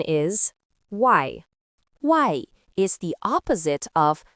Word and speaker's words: 外: Its pronunciation is wai.